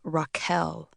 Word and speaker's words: Rachel: Rachel, only she pronounced her name Raquel.